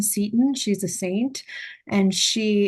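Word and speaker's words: Seton: Um, it it would be good to pronounce this correctly. It is Satan House, named after Elizabeth Anne Satin.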